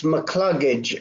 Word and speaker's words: McCluggage: And the other is Julie, Julie, and then it's McCluggage. I'll spell it for you. It's capital M, small c, capital C, and then the word luggage.